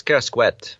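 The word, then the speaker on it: Kerascoët: No, I think it's Kerosquet. Ker Kerosquet. That's how you pronounce. I think you have the ET because of the Breton part. Uh, the the Yeah. So, it's not a normal French pronunciation, right?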